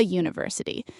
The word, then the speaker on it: university: Even though university starts with a vowel letter, it's pronounced with a U sound, which is a consonant sound. So you say a university.